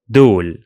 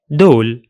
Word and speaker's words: دول: Just drop the initial ha sound of the Levantine forms. So هذا becomes da after dropping the ha at the beginning. هادي becomes di, di, and هدول becomes dol, dol.